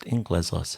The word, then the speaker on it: Englezos: Oh, look, you were leaning a little long on that middle syllable, but it's fine. We'll roll with Englezos. It's just Englezos.